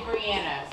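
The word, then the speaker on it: Bryanna: some reconfiguring on the motherboard ITR to say Brianna not Brian I tried oh she still going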